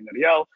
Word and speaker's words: Nariel: My name is Nariel. If you can roll your R's, you call me Nariel.